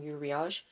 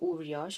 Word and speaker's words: Uriage: this one is from yuriage or uriage i feel like it's pronounced uriash but yeah so let's say uriage from now on now